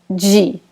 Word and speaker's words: de: A gente pronuncia, na verdade, de. Ok? So, we pronounce it like this. De.